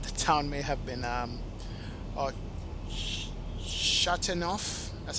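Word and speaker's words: Châteauneuf: Not sure, but the town may have been Chateauneuf. That's how you pronounce it. Chateauneuf.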